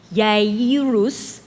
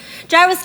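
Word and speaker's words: Jairus: gyrus by the way his name is actually pronounced Yus but I'm not going to make you do that because we're Americans so it's gyrus gyrus came and then when he saw him fell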